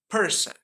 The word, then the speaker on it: person: In this word, there are two syllables, per and son. The first syllable is per. In this word is stress syllable. So it will be longer and higher in pitch than the second syllables, and that is son. So when we read, it will be stress the per, like person, person.